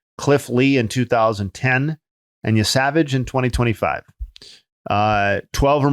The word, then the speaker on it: Yesavage: Um, Yavage, I believe that's how we're pronouncing it.